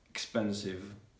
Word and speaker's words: expensive: end of the world you also need to pronounce it like a v not like not like an f so for example expensive expensive you need to